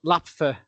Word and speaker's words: LAPFF: It's a bit of a mouthful to say, though, but yeah, LAPFA, I think, is how they say it in the sort of the quick way.